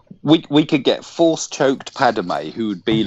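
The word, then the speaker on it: Padmé: We could get force choked Padme, who would be like a Yoda. Padme, not Padme. It's Padme, not Padme. She's not a Native American. 2 syllables.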